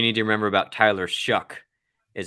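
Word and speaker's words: Shough: to remember about Tyler shuck is his last name rhymes with suck but it's three years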